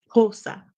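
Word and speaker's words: Xhosa: from the language of kosa kosa is how it's pronounced in the southern part of Africa and BOS is a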